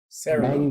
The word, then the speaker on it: Cerulean: But the same fact, like right now, I have a Cerulean, right? That's how you say it, Sam? Yeah. Sylveon? No, Sarah Luge. Cerulean.